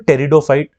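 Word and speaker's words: pteridophyte: तो थैलोफाइट हो गया, ठीक, और क्या होगा टेरिडोफाइट, इसमें पी साइलेंट होता है, टेरिडोफाइट, ठीक।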